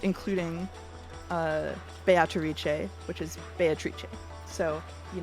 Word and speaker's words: Beatrice: uh actors are saying biche I will say that uh the Japanese pronunciation is based on on Italian pronunciation which I checked ahead of time and is Beatrice be batri bee without the toe okay and betri but